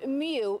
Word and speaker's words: Mu: The Mu variant, which is pronounced Mu, not Moo, is the latest COVID strain infecting San Diegans.